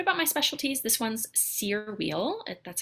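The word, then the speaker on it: Cyr wheel: a little bit about my specialties this one's sear wheel that's how it's pronounced it is a big metal ring that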